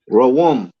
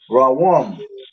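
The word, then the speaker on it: רוּם: And that is Rawam. Cancer. All right. Like a Ra character. Right? You got the Wa character. Right? And then you got the Ma character.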